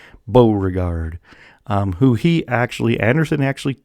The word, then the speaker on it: Beauregard: up fighting general PT PGT Beauregard yes that's how you say it Beauregard who he actually Anderson